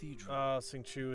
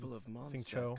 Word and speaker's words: Xingqiu: Xingqiu is so good. Xingqiu. I think that's the proper way to say it.